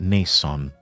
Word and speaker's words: Nissan: Love old Nissan or Nissen. Some people pronounce it Nissan. I still call it Nissen from time to time.